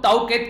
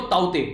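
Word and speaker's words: Tauktae: को बताया भी था, नॉर्मली इसको आप लोग ताउकेत के नाम से बोल सकते हैं, पर लेकिन इसको जो इसको प्रोनाउंस करेंगे वो बोलते हैं इसको ताउते, ठीक है, वैसे इसको नाम तो स्पेलिंग है पर लेकिन ताउते इसको यहां पर प्रोनाउंस किया जा रहा है, ठीक है।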